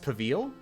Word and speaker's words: Pavel: It's pronounced Pavil?